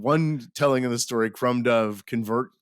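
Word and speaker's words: Crom Dubh: cool it's it's uh crom duh okay like crom dub but it's pronounced Crum do and the other one was di the other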